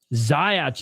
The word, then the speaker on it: Zając: Zając is how they pronounce his last name.